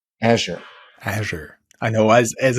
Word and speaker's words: Azure: Amazon's Alexa Mercedes-Benz will use chat GPT via azour yeah Microsoft Azure right Azure Azure I know as as a German you always pronounce it as at yeah and I yeah